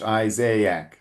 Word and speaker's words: Isaac: So, yes, it's one of the rare times where you pronounce two vowels uh separately in English. Isaiaak.